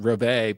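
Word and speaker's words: reveille: I turned out it's actually revelry is actually pronounced rovay but I don't think anybody in America pronounces it that way yeah I I've always pronounced a revelry yeah yeah yeah yeah like the military Taps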